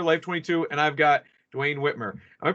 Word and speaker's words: Duane Whitmer: guys Kevin here life 22 and I've got Dwayne Whitmer I'm pronouncing that right yes yes okay great so